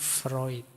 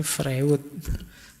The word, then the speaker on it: Freud: Teori defense mekanisme ini kan terkenal sekali antara lain dari Sigmun Freud dulu pernah kita bahas beliau ya yang terkenal dengan psikoanalisisnya yo tulisannya Frewood yo bacanya Freud awas keliru cara bacanya tapi yo gak apa-ap